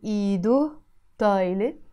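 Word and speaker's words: إيدو طايلة: And again, you notice here, when I say iido, I'm not pronouncing this he. It's silent in Lebanese Arabic because there is a dhamma here, iido taaylé. I pronounce it this way.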